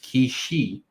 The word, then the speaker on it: Kishi: Kishi Bros. Okay, like key is in Key.